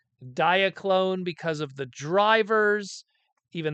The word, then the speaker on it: Diaclone: We have Diaclone or Diaclone, or however you want to pronounce it. Diaclone would be the correct one.